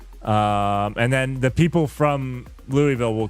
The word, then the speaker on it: Louisville: The city I'm from, Louisville, everybody pronounces differently. Like people from Europe will call it like Louisville, which I think is what it should have been pronounced. Most people in the Louisville or Louisville, either one of those I think